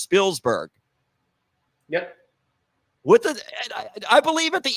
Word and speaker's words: Spielberg: But you have Corey to enlighten us all, and it's actually pronounced Spielberg.